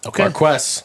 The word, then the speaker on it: Marques: Oh, do you have the pronunciation pulled up here? Pause for one second. Marques Watson. Marques. Marquest.